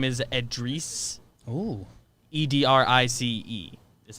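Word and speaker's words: Edrice: to bam autobio okay his first name is edreese oh e-d-r-i-c-e is how it's spelled hey i don't know the origin of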